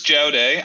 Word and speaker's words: Jaodae: It's Jaodae. I mean, Rob always says you can pronounce it however you want, but technically it's Jaodae.